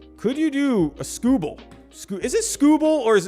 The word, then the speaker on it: Skubal: Bull, not ball. Bull. Okay, so it's Skubal.